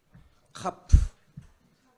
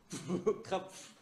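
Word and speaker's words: כף: 카프. 카프. 자, 카프. 발음이 어떤 거예요? 키역 발음. 예. 그래서 이렇게 하면 어떤 발음? 카. 네, 이 카프는 약간 거칠은 음이 나와야 돼요.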